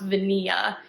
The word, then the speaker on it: Vaniglia: it's it's spelled like vaniglia I think but it's supposed to be the Italian word for vanilla and it's supposed to be pronounced vanilla so yeah needless to